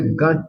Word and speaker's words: Gantt: I must say Gantt chart. I say, all right, I take your correction. I will be pronouncing it properly, right?